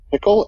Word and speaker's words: Pychyl: It's a guy Timothy, and I don't even know how to pronounce his last name. Pickle. It's Pychyl. He's got a book called Solving the Procrastination Puzzle.